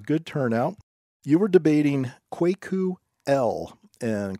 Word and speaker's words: Kwaku: there was a good turnout you were debating quake ooh el and quake ooh is spelled K W a K you his last